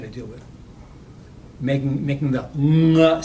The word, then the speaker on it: nga: One notorious thing about Navi is that it has this NG sound at the beginning of a word. So the word for you is nga, N-G-A. Now the N-G sound is very familiar in English. We have it all over the word, sing, bring, hung, whatever. What we don't have is that same sound at the beginning of the word.